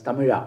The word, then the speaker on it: Tamizha: that's not Tamizha, that's Tamila. Tamila. It is nothing like hip hop and Because from we Tamil are Nadu. Hindi speaking also, Yeah. we can mistake in pronunciation.